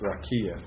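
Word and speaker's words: רקיע: And I pronounced that wrong because that accent. Sometimes when it has that accent with a Hirik, in my eyes it looks like a comets, but it's not. Rakia.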